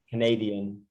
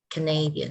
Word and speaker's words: Canadian: Canadian. Canadian. It is on the second syllable. Canadian.